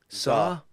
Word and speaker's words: Tsar: Tsar. What? Tsar. Tsar. Why have they put a fucking T at the start then? Right, we go with Tsar. We go with. It's called the Tsar Bomb.